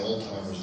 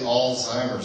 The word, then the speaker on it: Alzheimer's: a lot of times they'll say older's disease or they'll say uh the altimer AL timer's disease um and it's actually Alzheimer's disease this is how it's spelled uh Alzheimer's it's it's